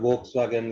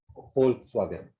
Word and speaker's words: Volkswagen: Not Volkswagen like Indians call it. Volkswagen. Vol. No silent letters in Dutch. Volkswagen. You have to spell out everything.